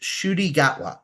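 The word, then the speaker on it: Ncuti Gatwa: I looked it up his name is pronounced shoy gatwa shoy gwa I love him he's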